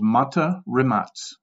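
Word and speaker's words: Mate Rimac: with a guy called mata remats and yes that's how you say his name in his native accent he was born in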